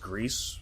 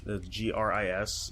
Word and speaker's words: Gris: That's from the developers of, I guess it's pronounced Grease, Gris.